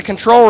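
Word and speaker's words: Ctrl: newest software platform right which is spelled CN or c-tr-l exactly yeah so fully scalable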